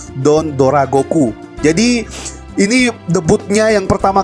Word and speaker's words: Don Dragoku: menjadi don't Dora Goku tulisan itu don't trago ya guys cuman pelafalan Jepang itu don't Dora Goku jadi ini debutnya yang